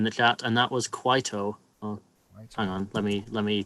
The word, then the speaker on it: Kwaito: Oh, it is like how I said it, Kwaito, and it's a style of South African music.